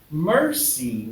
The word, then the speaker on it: Mercy: When I finally saw her name spelled out, I'm like, Mercy, not Messi.